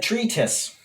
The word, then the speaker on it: treatise: or whatever so yeah the word is said treatise with the emphasis on the word tree so treatise treatise treatise